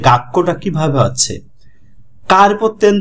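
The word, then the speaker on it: 学校: এরপরে ছুটা, ছুটা হচ্ছে কি, ছোট ছু যখন হয় পরে একটা ডাবল উচ্চারণ হচ্ছে। হ্যাঁ, গাক্কো, আর শেষে যে উ আছে, এই উর কারণ আরো লং ভাওয়েল, এটা টানা উচ্চারণ হচ্ছে।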